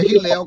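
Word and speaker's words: Hillel: da escola de Rio Hilá. Na verdade, é Hilel que se pronuncia.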